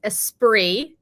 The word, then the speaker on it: Esprit: sweaters were the best is that how you pronounce it Esprit or is it Esprit so it's apree apre you would not know